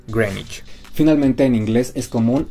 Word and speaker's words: Greenwich: mismo con esta ciudad si tenemos green y which uno pensaría que se pronuncia greenwich en realidad es grey nyc finalmente en inglés es